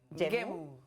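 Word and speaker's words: ゲーム: Yeah, it's Gemu. actually Yes, the U is silent in no. Japanese. The way it it's feels written, it's like. actually kind of stretched out. It's like game, Gemu.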